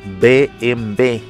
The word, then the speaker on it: BMW: conocerlo BMW se pronuncia en alemán bmb y son las siglas